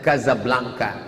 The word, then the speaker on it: Casablanca: Tulisannya Casablanca, cara membacanya Casablanca.